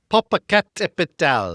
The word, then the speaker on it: Popocatépetl: Popocatépetl. Okay. I looked up the pronunciation of it.